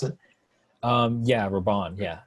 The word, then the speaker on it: Rabban: I believe that's the name how you pronounce it. Yeah, Raban. Yeah, Rabban.